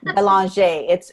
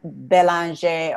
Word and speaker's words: Belanger: It's Belanger. It's French. My husband is French. So it's Belanger or Belanger. It's like, if you're not French, you can pronounce it.